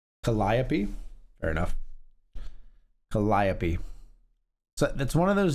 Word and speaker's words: Calliope: It's pronounced Calliope.